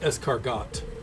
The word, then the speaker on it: escargot: Well, it's actually pronounced escargot.